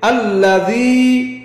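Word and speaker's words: الذين: জবর আল লাম জবর লা আল্লা নরম ইয়া উচ্চারণ কি হবে আল্লাজি হামিম পেশ হুম হামিম পেশ হুম এখন একসাথে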